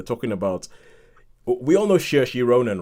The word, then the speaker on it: Saoirse: trying to pronounce it, I was like, Soares? But eventually you know that it's Saoirse, it's pronounced Saoirse.